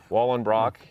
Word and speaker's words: Wallenbrock: was play baseball and today we've got wallen brock yes i know i pronounce that name right good and listen i